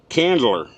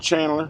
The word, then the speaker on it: Candler: Ca candler. C A N D L E R. Not Chandler. Nothing else. I'm not misspelling or mispronouncing. It's Candler, North Carolina.